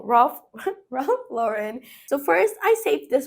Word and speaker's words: Ralph Lauren: Let's go for Ralph Lauren. I'm saying it wrong. Ralph Lauren.